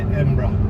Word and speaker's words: Edinburgh: You just say Edinburgh.